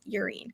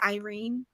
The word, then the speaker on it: Yrene: been reading irene as urine yeah i probably would have too but because of the audiobook the audiobook pronounces her name as irene um i probably would